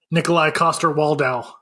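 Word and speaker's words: Nikolaj Coster-Waldau: Nikolai Coster-Waldau.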